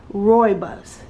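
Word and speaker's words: rooibos: really good information okay robust says here pronounced Roy buus only grows wildly in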